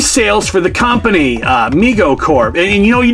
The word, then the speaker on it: Mego: who cares moving on migo pronounced migo which is true uh was started by